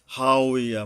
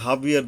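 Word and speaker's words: هاوية: জের আছে, হা উইয়া, মানে এখন অনেকে যে হাবিয়ার দুযোগ বলে, এটা বাংলা কইরা কইরা না আরবির গুণগত মান নষ্ট করে ফেলা হয়েছে অনেক ক্ষেত্রে। যেমন এখানে হা উইয়া, কিন্তু সবাই হাবিয়া বলে চালাই দিচ্ছে, হাবিয়ার মার দুজক অনেকে বলে, মুখে মুখে দেখছি।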